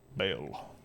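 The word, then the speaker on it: Ba'al: Lord ball oh God bail ball everyone pronounce it I pronounce it bail from Stargates is where this name is from I mean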